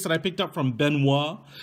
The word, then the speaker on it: Benuo: Benuo is what they tell me this is pronounced as. Benuo.